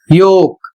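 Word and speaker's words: yolk: दूसरा जो नियम है इसमें लिखा है ओ एल के बाद जब के आता है तो एल साइलेंट हो जाता है या एल साइलेंट रहता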